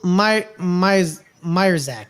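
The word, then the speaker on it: Majchrzak: Camille Myerzak is how it's pronounced.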